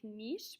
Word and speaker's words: niche: This word looks like niche, but it's pronounced niche.